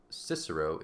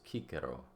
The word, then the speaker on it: Cicero: always always hard um so it's not cisero it's Kiko right if if you have read the introduction about Cicero we would pronounce his name as cisero that Soft C on the front but it's Kiko Kiko so C is